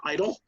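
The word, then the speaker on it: EIDL: injury disaster loan program also known as EE IDL or the somewhat unfortunate pronunciation idle but we'll we'll talk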